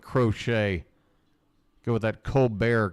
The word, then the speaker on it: Crochet: and bradish against crochet is it crochet or crotchett I'm gonna go with crochet go with that Co